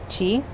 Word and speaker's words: Qi: Qi, Ki, like in Japanese it's Ki, in Chinese is Qi.